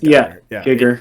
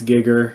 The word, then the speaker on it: Giger: it HG Giger gger it's Giger well I mean so I've my whole life I've pronounced it Gyer but I guess technically it's gigger um but I'm gonna go with gerer matter how you pronounce